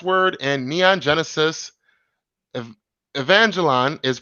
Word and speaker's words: Evangelion: Eric, he said, by the way, the last word in Neon Genesis Ev- Evangelion is pronounced Evangelion.